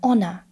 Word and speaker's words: honor: And these are mostly words which begin with a silent H. For example, an honor, an hour. Even though these words start with a consonant, an H, they start with an open vowel sound, ow.